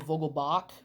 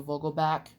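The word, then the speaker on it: Vogelbach: cool Daniel Vogel back I heard some people pronounce it Daniel Vogel bak but it's Daniel Vogel back on there and there's fans call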